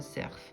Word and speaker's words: cerf: dans le fond puis moi je dis un cerf je ne suis pas du Nord je prononce toutes les lettres ici vous avez les